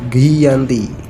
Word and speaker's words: Giyanti: lokasi penandatanganan perjanjian yakni di desa Janti dalam pelafalan Belanda ia tersebut sebagai Giyanti dengan secara tertulis ia